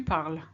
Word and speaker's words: parles: With tu, you need an ES, but it's silent as well. Tu parles.